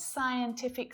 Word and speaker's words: scientific: Different scientific scenarios fascinate me. It's that letter C. It's usually silent when it appears after an S.